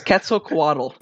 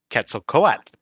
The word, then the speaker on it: Quetzalcoatl: Please don't make me pronounce it. It's Quetzalcoatl. Quetzalcoatl. I will avoid saying it as much as possible. I can tell. Or if you're a linguistics nerd like I am, Quetzalcoatl.